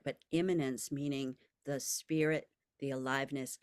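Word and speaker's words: immanence: wisdom this is about imminence which is spelled I am m a n ce imminence not imminent like coming up soon or eminent like important right but imminence meaning the spirit the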